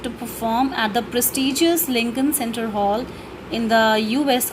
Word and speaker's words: Lincoln: Bismillah Khan became the first Indian to be invited to perform at the prestigious Lincoln Center, or we can say Lincoln. Okay, here the L is silent.